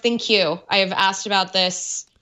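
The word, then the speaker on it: ThinQ: thin queue platform and yes it's pronounced thank you I have asked about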